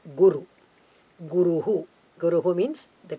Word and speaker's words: guru: darkness is completely gone so guru that should be the correct pronunciation please let us follow